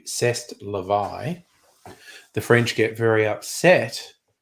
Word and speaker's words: c'est la vie: But you know, Chez la vie, or if we were going to pronounce it as the French do, c'est la vie.